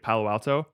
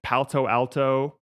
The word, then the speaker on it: Palo Alto: like blows my mind she also very much struggled to pronounce uh the city of palo alto she had like four different ways of pronouncing it was like palto alto palto alley um you do